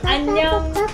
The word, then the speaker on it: 안녕: 안녕 하세요. No. But you can make a short. 안녕. Similar to onion.